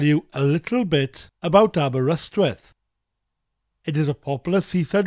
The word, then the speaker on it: Aberystwyth: the letter Y, and English-speaking people tend to pronounce that letter Y as an I sound if they don't speak Welsh. But that Y has an A sound, Aberystwyth. Aberystwyth.